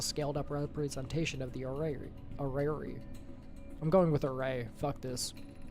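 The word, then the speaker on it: Orrery: At the center of this platform is the array, a vital tool in your shaping of this system. While an while and oh wait, oh, I've I've been mispronouncing it. Orari is normally a miniature representation of a star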